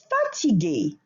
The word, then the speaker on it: fatigué: Fatigué. Same concept. The pronunciation does not change whether you are masculine or feminine subject, but in writing you will add an E at the end if you are a feminine subject.